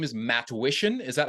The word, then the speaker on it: Matwishyn: here with and your last name is matsh is that how how to pronounce it yeah matsh matsh got it okay